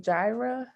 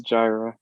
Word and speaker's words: Jaira: about um is it jira the question earlier um on the call i don't mispronounce your name i'm so sorry how do you say it correctly it's jaira jira okay i was there